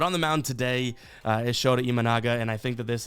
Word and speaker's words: Shota Imanaga: But on the mound today is Shota Imanaga, and I think that this is a pretty... I nailed that pronunciation.